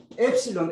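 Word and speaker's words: ἐψιλόν: Cuando uno pronuncia, cuando aparece epsilon E corta es E Epsilon. y Epsilon. eta E larga.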